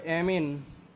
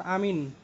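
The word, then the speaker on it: amine: সেটা হলো অ্যামিন, নট আমিন। ঠিক আছে, অ্যামিন।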